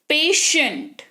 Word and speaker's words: patient: उदाहरण के तौर पर देखिए, PATIENT, यहां पर टी के बाद IE है, तो ये पढ़ेंगे पेशेंट।